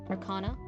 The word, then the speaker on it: Arcana: Is that the right way to say that one? Arcana.